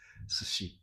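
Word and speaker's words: 寿司: S before I is always pronounced as sh.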